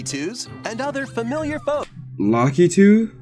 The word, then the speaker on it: Lakitu: and other familiar folks lucky too that's how you pronounce it lucky too I thought I always call them look lakitude I guess I was wrong those are also here